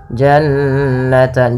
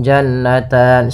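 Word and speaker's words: جَنَّتَانِ: gunah bacaan gunah yaitu suara nunnya ditahan dua harakat Janan jannan jangan langsung jannatan sering terjadi tidak menahan gunahnya kemudian ini kembali lagi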